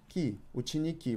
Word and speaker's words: ученики: Ученики with the emphasis on the last «и».